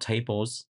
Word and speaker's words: tbls: And tbls is pronounced tables, and this tool help you solve this issue.